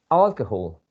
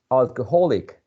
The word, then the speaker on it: alcohol: falls uh onto this the first syllable alcohol but if you say the adjective alcoholic alcoholic there's a shift of the stress to a different syllable okay so that's also a